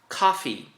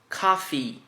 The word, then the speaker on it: coffee: Coffee. Coffee. Você dá uma segurada mais no final e o E tem som de I.